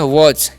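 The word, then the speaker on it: was: दोनों के साथ जैसे मैं डब्लू एस है तो इस हम पढ़ते हैं वच क्या पढ़ते हैं वच वज का मतलब क्या होता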